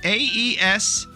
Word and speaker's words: Aeschylus: I learned last time how to say this guy's name, but it is Aeschylus.